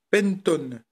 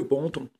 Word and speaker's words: Penton: de son, c'est un Pentone. Donc je dis Pentone parce que bon, à mon avis, comme c'est anglais, ça se prononce à l'anglaise. Puis ça fait un peu mieux que Panton.